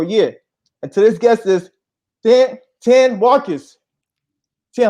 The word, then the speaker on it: Thane: So it's Thane, or it's not Tan, but Thane with the Thane, TH.